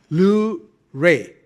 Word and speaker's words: Lewré: I said, I'm going to use this pronounced as L ray, the luminous ray of hope.